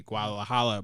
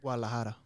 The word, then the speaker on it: Guadalajara: was in Mexico City Guadalajara butchered that do not care but uh I do care Guadalajara there you go ah I got my